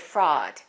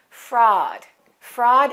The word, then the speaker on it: fraud: pronunciation of the word fraud that a u is pronounced like this ah ah fraud fraud is a crime of